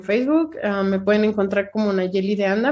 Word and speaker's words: Nayeli: Me pueden encontrar como Nayeli de Anda. Mi nombre se escribe muy singular, entonces con H intermedia entre la L y la I.